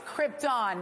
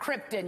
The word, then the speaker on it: Krypton: dollars to mispronounce Krypton it's Krypton not Krypton you expensive legends Krypton number